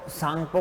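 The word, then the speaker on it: Tsangpo: तो तिब्बत में उसको सांगपो कहा जाता है, इसमें टी साइलेंट रहता है।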